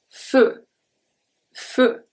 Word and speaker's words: feu: Feu, feu. E-U make the sound E, an open E, not a close E.